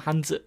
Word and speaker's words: Hanzi: I found the book called Remembering the Traditional Hanzi by James Heisig, or Remembering the Traditional Hanzi by James Heisig. I always pronounce it Z because that's the way the Cantonese word's pronounced.